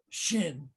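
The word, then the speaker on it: ש: There's a Hebrew letter, Shin, and it represents the word Shaddai. It's pronounced sh.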